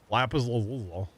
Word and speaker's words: lapis lazuli: So, because yes, that's how you say it. Lapis lazuli. It's like saying Louisville, you know.